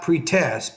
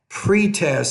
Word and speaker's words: pretest: start the pretest not pretest but pretest so put stress on that first syllable consonant sermons okay so